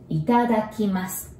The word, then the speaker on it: itadakimasu: So let's break it down. Ita. It is like a country, Italy's Ita. And daki. Have you seen those yellow duck toy, like squishy one? Look like this. I hope you like my drawing. It's called daki. So ita daki. Mas. We already know this from gozaimasu, the same mas. It sounds like mask, but without K.